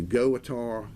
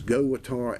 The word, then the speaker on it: GOWUTAR: and his Go guitar I guess that's how you pronounce it spelled g-o-w-u-t-a-r all capitals it's a goatar a20 they also sell